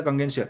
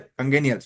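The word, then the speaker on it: congenial: जो अपने टिक लगाया था कंगेंशियल, कंगेनियल, वेरी सॉरी, वर्ड का हम प्रोनाउंसिएशन बता रहे हैं। कंगेनियल बोलेंगे हम इसे।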